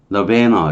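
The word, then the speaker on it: nirvana: 우리말하는 너르바나 뭐라 그러냐? 너르바나라 그러나요? 영어는 너베너 이렇게 발음하는데 열반, 해탈 그런 뜻이에요.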